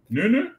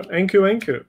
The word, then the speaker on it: Nkunku: Can you pronounce his name as Nkunku? Nkunku. Nunu. Nunu? No, Nkunku.